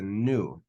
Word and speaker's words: nu: It's a nu. And it's pronounced like the letter N.